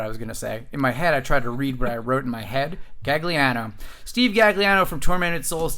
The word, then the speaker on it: Gagliano: Gagliano, I pronounced that correct? Correct. I was about to say Gagliani, but I don't know what I was going to say.